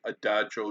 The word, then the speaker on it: adagio: What is adagio and how do you pronounce it? Adagio, not adagio. It's adagio, 3 syllables.